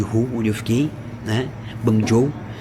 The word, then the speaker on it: Guangzhou: Guangzhou, que é Guangzhou escreve, mas se mas se fala, se pronuncia Guangzhou.